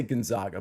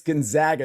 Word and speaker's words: Gonzaga: We've got Gonzaga, or I used to say Gonzaga, but I understand it's Gonzaga now.